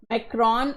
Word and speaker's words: Macron: Alright, the election results in France have put, I will pronounce this name the Indian and British way, not the French way, Macron in a precarious position, he must build alliances or risk more instability.